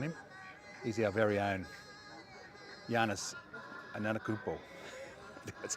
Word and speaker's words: Giannis Antetokounmpo: He's our very own Giannis Antetokounmpo.